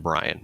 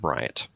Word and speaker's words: Bryan: There's no T on the end of it. It's just Taven Bryan, not Bryant.